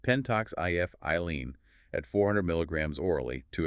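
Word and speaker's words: pentoxifylline: The regimen is ptoxifilin and that's pronounced penttox if iene at 400 milligrams orally two or three times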